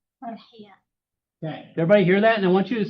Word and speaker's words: Farhiya: How do you pronounce your name? Farhiya.